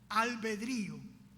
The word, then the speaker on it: albedrío: Hablamos mucho del famoso libre albedrío, así se pronuncia, albedrío.